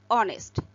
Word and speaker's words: honest: For the next example, notice the word honest, as ace is silent here and the word honest starts with vowel sound, so an is used before that word.